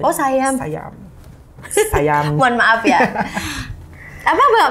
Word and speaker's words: Siam: Iya, kayak di Sayam bacanya. Oh Sayam.